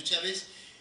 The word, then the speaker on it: Chávez: Chávez, el apellido Chávez lleva acento en la A, V y Z.